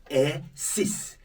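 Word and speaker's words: six: I said when pronouncing 10 and 6 on their own, you sound this, 6. But when followed by a word that starts with a consonant, the X is silent.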